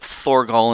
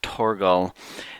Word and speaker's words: Torgal: And sometimes I pronounce it Thorgal, and sometimes I pronounce it Torgal. Since he pronounces it Torgal, I'll say it that way normally, but occasionally I'll say Thor, which is just fine.